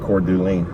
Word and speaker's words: Coeur d'Alene: Pronounced Coeur d'Alene.